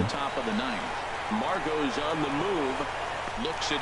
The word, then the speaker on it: Margot: And that'll bring up Manuel Margot. He's 2 I for like his 3 name, thus far. Margot, but the T is silent.